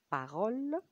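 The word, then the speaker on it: parole: اكزامبل تاني كلمة بارول، يعني كلمة. برضو الـ إي فينال لم تنطق، و اللي سمعته أو اللي نطقته بس في الآخر هو الـ L.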